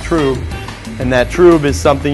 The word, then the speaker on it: trub: those proteins settle out it's called true spelled trub pronounced true and that true is